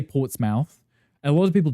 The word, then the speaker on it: Portsmouth: so many names like Portsmouth. Um I think it was cuz he was Scottish. He used to put a lot of emphasis on the mouth. They would just say Portsmouth.